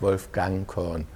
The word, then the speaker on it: Wolfgang Korn: Am I pronouncing it the right way? Yes, very good, Wolfgang Korn, not Right.